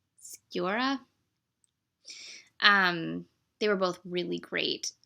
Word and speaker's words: Sciorra: It was Ron Eldard, who I remember from ER, and how do you say her name? Annabella Sciorra? No, Sciorra.